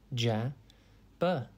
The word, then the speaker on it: jabber: It's pronounced ja-ber, and it is spelt J-A-B-B-E-R. Think jab and then Jabber means to talk rapidly and excitedly, but with little sense.